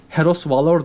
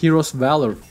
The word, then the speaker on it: Heroes Valor: Yine en kötü telaffuz edilenlerden bir tanesi Heros Valor diye dümdüz ve pervasızca okunan, gerçek ismi ise Heroes Valor yani kahramanın cesareti adlı yüzüğümüz. Bu Heros Valor değil, Heroes Valor.